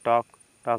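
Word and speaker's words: talk: आधा इसमें से देखिए एल के बाद के है तो एल साइलेंट हो जाएगा एल साइलेंट हो जाएगा तो यानी टी के टी ए के को पढ़ेंगे टॉक टॉक मींस बातचीत करना इसके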